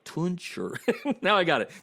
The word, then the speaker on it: Tunch: you think I'm misspeaking, it's Tunch, like punch. For a while there, I was saying it wrong, right?